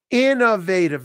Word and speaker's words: innovative: should discuss Innovative Amar Innovative the stresses on the first syllable bum bum bum bum so she is very Innovative don't forget the V Innovative everyone thank you for